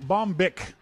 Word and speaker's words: Bombich: Now on our phone, we've got our friend Bombich. I've been corrected on the pronunciation of his name from Carbon Copy Cloner.